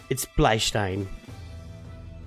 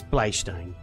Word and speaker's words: Bleistein: So it's pronounced Steen in English, but Stein in German. I got news for you. It's Bleistein. It's Bleistein. It's a German word.